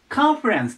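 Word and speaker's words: conference: なんですがアクセントの位置気をつけて覚えてくださいでコンではなくてかですカカンファレンスと言いますカンファレンスでカンファレンスで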